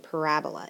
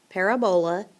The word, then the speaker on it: parabola: word for the day parabola it is not parabola got to put the emphasis on the correct syllable and it is a parabola okay and a parabola